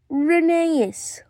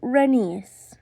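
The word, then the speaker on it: Rheneas: It's Reneeas. Or is it Renius? I'm just going to go with how the Railway Series pronounces it.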